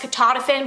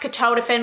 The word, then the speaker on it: ketotifen: I used to think it was pronounced ketotifen, but it's really pronounced ketotifen, but I don't really like ketotifen because it has the